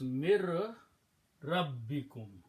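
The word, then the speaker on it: مِن رَّبِّكُم: And then when you pronounce in tajweed, when ra and noon come in this order, then the sound of noon goes away and ra is pronounced twice. So we'll put a shadda here on that and remove this sukoon here. Okay, so remove this sukoon. Okay, so it becomes mir rabbikum.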